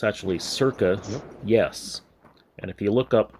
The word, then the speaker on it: CIRCAYES: ressing us here is circa yes most people pronounce his name sir kay's but it's actually circa yes and if you look up circa on wikipedia